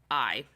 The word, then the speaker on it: Massari: Her name was Allison Massari, and I think that's how you say it. It's Massari. Massari.